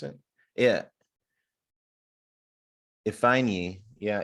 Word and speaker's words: Ifeanyi: Author Casey Ifeanyi, is that how you pronounce it? Yeah. Ifeanyi. Yeah, Ifeanyi.